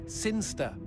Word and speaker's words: Sinchester: It's pronounced Sinster.